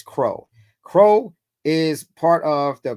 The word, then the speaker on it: CRO: call a c token crow cro stands we say we pronounce it as Crow Crow is part of